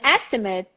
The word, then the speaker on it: estimate: an estimate so it's the same thing stress on the first syllable the last syllable short estimate and the verb